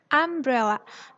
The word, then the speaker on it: umbrella: Payung bahasa Inggrisnya umbrella. Umbrella. Bunyi vokalnya A kan? Umbrella. Umbrella. Bukan tulisannya ya. Di sini tulisannya emang U atau U dalam bahasa Inggris. Tapi cara bacanya yaitu bunyi vokalnya umbrella.